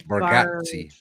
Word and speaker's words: Bargatze: I never can pronounce his last name. Bargatze.